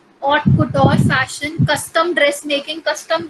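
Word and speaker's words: haute couture: इसमें H silent होता है, इसको हम ऑट कुटोर प्रोनाउंस करते हैं.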